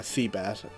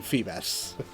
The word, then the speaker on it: Feebas: I'm searching for Gulpin to help me try to get uh make it easier to catch uh seabbass. I mean Feebass. I said the name wrong.